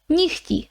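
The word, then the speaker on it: нігті: ukrainian when we speak even though it's written we pronounce it more like nicki okay so it's not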